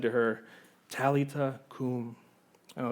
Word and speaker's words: Talitha cum: Verse 41, it says, he took her by the hand and he said to her, Talitha cum.